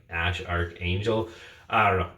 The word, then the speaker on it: Æ A-12: into play here, but I think it's supposed to be pronounced Ash Archangel, unless it's a hoax.